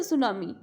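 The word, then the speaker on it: tsunami: सुनामी, इसमें T silent रहेगी बेटा, आपने तो सुनामी नहीं बोलना, सुनामी एस से स्टार्ट करना है।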